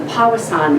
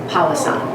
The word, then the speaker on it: Powassan: So with that thought in mind, the Powassan virus is on the increase.